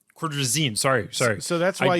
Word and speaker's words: Cordrazine: them cortisone cream it's cord resign it's they pronounce it cordrazine cordrazine sorry sorry so that's why you heard it